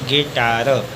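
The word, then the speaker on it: guitar: स्वर से पढ़ेंगे गिल्ट अगला है जी यू आई टी ए आर यू के बाद आई एक स्वर है इसी यू साइलेंट इसको पढ़ेंगे गिटार अगला है जी यू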